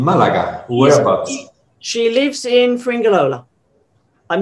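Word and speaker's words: Fuengirola: She lives in Fringilola. I'm not very good at pronouncing that name, that word, but she lives in Fringilola. Fringilola, perfect, yeah.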